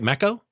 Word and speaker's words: Meco: Did I pronounce it right? Mecco?